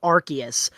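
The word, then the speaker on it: Arceus: No, it is pronounced the way you're supposed to pronounce it is Archus, but I've always said Arus, so I'm going to say Arus.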